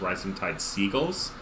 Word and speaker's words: Rising Tide Seagles: wins so uh flashpoint i've been told that the actual pronunciation for rhizotide s eagles is rising tide seagulls so i agree that